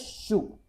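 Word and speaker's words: しゅ: It will be pronounced as shu.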